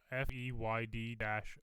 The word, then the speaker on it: Feyd-Rautha: But Dennis Villanueva confirms Fade Rataz. You say that differently than me, probably. Appearance I in have no. Dune Part 2. Third. Theoden. Is that how you say it? It's FEYD-RAUTHA.